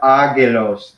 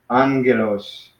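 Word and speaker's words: ἄγγελος: So this is not agelos. This is angelos. So you treat this as if it's a nu. Yeah. So alpha, nu, gamma, epsilon, lambda, omicron, sigma. So yeah, and you still pronounce it like angelos. So it's alpha, gamma, gamma, but you treat it as if it's alpha, nu, gamma. That's the way you pronounce it.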